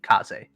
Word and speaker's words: Kaze: you uh spelled kuze for me uh k-a-z kaze he was like trying to remember so he